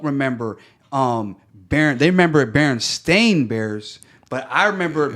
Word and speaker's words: Berenstain: know, or you know, it's Berenstain like Bear, yeah. it was like Berenstain." They always said Steen, so I'm like, if it was spelled with an A, then why the heck would we put the you know, Eve sound in it?